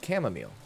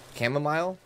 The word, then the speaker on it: chamomile: you will find some chamomile chamomile chamomile I know that's supposed to rhyme right but I'm always I always pronounce this chamomile right smile okay all right I'm